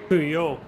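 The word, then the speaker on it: Pouhon: to a very fast part of the track, Péon. Do I pronounce that right, Jason? Péon, yeah.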